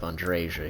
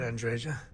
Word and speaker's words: Andreja: The J's are Y's.